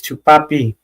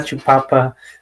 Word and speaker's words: Chupapi: You said it wrong, Soviet, and it's Chupapi, not Chupapa.